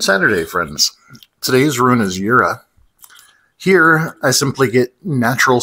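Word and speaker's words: Jera: This rune is pronounced Yura.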